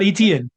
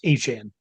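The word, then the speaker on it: Etienne: It's not Travis etn Sean, it's Travis Asan.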